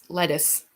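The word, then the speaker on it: Lettice: Except the one character, her name is Lettuce. Lettuce, like as in lettuce? It's not spelt like lettuce, but it's pronounced like lettuce.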